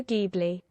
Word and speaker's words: Ghibli: the correct one obviously Studio Ghibli oh still a hard G Noise Okay well there you